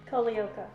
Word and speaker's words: Calliope: And the correct pronunciation for this is Calliope. Calliope.